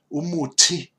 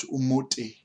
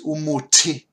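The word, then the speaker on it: umuthi: Now remember, here the T does have the H afterwards, which means that it is an explosive sound. And the best way, put your hand in front of your mouth, and you should feel the air when you pronounce an H after the consonant. So umuti and not umuti. It's umuti.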